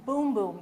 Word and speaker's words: Bum Bum: and it's called brazilian boom boom cream now it looks like it says bum bum it does say bum bum but it's pronounced boom boom okay because at first